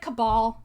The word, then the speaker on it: cabal: archaeology as a closed-minded is it cabal c-a-b-l i always mispronounce it thank you yeah i always say cable and then that's wrong um see as view of mainstream archaeology as a close-minded cabal of experts which is